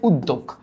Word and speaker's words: উদ্যোগ: বোর্ডের কোশ্চেন দেখাইলাম যে উদ্যোগ এটার উচ্চারণ উদ্যোগ হয় সমস্যা নাই। একটু খেয়াল করো এই শব্দটা যখন আমরা লিখি উচ্চারিত রূপ তখন আমরা লিখলাম উদোগ।